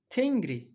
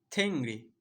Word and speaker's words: Tengri: nöron hafif olarak ne aynı şekilde tengride de ki bu Tengri sesinde de böyle okunur Tengri bakın Tengri bu değil günümüz türkçesinde Tengri olarak Bunu telaffuz ediyoruz genellikle Fakat o dönem bu aslında Tengri bu kadar bariz bir şekilde n ve G değil G'yi hafif daha böyle işte bu harfi kullanarak nden dönüşen bir g gibi yani arada yutar